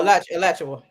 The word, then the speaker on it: Alachua: Y'all know I don't know how to pronounce Are you it. talking about Madison? Alachua. Oh, No, Alachua.